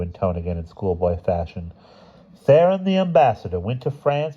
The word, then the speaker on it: Theron: Remember, Theron rhymes with heron.